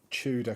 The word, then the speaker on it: Tudor: Tudor Corner. Yeah, that's how you pronounce it. I mean, I've seen a few Americans on TikTok mocking how we say Tudor, and it's British. It's a British word.